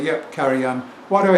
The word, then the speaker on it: Karajan: that we've all seen caran yeah caran not K Jan caran yep I get your